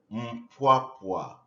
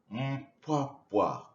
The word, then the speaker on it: Mpwapwa: You pronounce the name of our town Mpwapwa. Can you say it? Mpwapwa. Correct. Here is a map of our diocese, the Diocese of Mpwapwa.